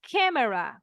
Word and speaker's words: camera: It writes the same, se escribe igual, se pronuncia camera, como si tuviera una E right here.